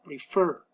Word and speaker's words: prefer: Y los verbos, cuando la mayor fuerza de voz está en la última sílaba, nótese acá, prefer.